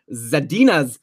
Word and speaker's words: Zadina: messed up with Philip Zadina's name. It's Zadina. I should know this. That's my wife's name, like minus the za.